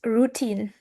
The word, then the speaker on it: routine: It is stress on the second C syllable. We we don't say like routine. No, no, no. It's true. Routine. The same with the word with without routine is stressed on the second syllable.